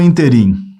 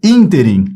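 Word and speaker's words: ínterim: palavra ela é oxitona a escrita correta é com acento no in então a pronúncia é interim e não interim ó interim naquele naquele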